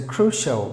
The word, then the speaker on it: crucial: Any word ends with a C-I-A-L ending. You just replace it with S-H-A-L-L word. You get it right. So crucial, meaning very important, or something that is very, very crucial.